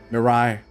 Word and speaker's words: Mirai: Mirai. That's the name of this planet. That's how it's pronounced in the local tongue anyway. The name of this planet.